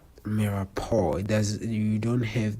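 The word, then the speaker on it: mirepoix: how it is spelled it is spelled different from how it is written. So always remember that mirao it's m i r e p o i x but the way you say it it's mappo it does you don't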